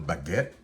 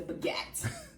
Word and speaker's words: baguette: It's baguette. Why you say it like the baguette? I don't, you gotta channel your French, your francophone self.